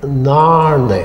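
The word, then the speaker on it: Narnain: But if N-A-R-N-A-I-N is one word, it must be pronounced in Gaelic Narne.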